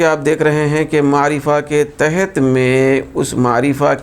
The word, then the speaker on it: معرفہ: قسم کا نام معرفہ ہے۔ تو اس کا تلفظ دوستو یاد رکھنا ہے ہم کو، یہ جو اصطلاحی لفظ ہے معرفہ ہے، معرفہ۔ دوسرا اسم کی جو دوسری قسم ہے وہ